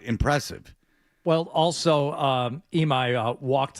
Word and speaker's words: Imai: Imai is his last name.